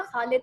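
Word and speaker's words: Khalid: ख वो लोग प्रोनाउंस नहीं कर सकते। अगर उनको कभी कहें ना खालिद प्रोनाउंस करो, वो कहेंगे खालिद।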